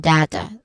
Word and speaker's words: data: Now in data, no there's two pronunciations of data. We get data and data. Those two pronunciations are all acceptable. Okay, they are valid.